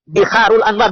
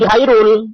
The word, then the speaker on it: Biharul Anwar: Ya, Biharul Anwar, bukan Bihairul. Kalau debat dengan saya harus yang benar membacanya, ya.